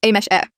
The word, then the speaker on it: Ames: It's pronounced as a mesh e.